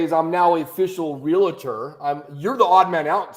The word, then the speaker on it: Realtor: I'm sorry, I have to correct. It's Realtor.